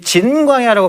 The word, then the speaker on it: 진광야: 그리고 신광야, 이 신광야는 이 진광야라고 발음이 될 수 있는 광야가 다른 광야라고 말씀드렸어요.